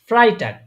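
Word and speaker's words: Freitag: এটা কি এফ এফ এফ এফ তে হচ্ছে ফ্রাই টাক ফ্রাই ফ্রাই ফ্রাই দেখেন এই দেখেন দেখেন এখানে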